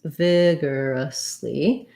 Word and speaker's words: vigorously: vigorously vigorous vigorously um so first syllable stress vigorously we have an e sound in the first syllable the letters o r say the e r sound and vigorously um vigor